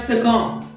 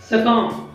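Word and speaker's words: succumb: ठीक आहे, त्याच्यानंतर आहे सकम, सकम आता याच्यामध्ये देखील बी हा साइलेंट लेटर आहे, त्याचा अर्थ आहे शिरच्छेद करणे.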